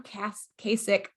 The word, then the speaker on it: Kasich: John Kasich, yeah.